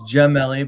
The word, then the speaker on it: Jelli: It's Jelli but I'm used to it.